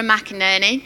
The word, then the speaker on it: McInerney: case you don't know my name is Laura McInerney if you can't easily remember it you just